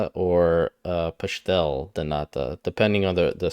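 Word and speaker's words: pastel de nata: mine I understand he's not Portuguese so the pronunciation would be wrong so you would say or uh pashtel thanata depending on the the spelling of piste or pashtel but yeah it's not pastel de nada it's but again he's not Portuguese so it's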